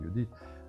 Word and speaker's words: Judith: Mais euh le personnage de de Judith, ça s'écrit Judith, mais ça je pense c'est Judith, c'est vraiment un personnage féminin vigoureux.